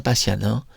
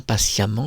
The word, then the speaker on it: patiemment: Kermite la grenouille est-il sur une chaise ou dort-il dans son lit bien patian ? Où dort-il dans son lit bien patiemment, j'ai mal prononcé avec ses livres de chevet ?